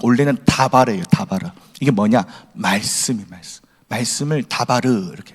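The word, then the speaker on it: דבר: 전치사인데 그 뒤에 드바르라고 라고 발음나니까 원래는 다바르예요. 다바르.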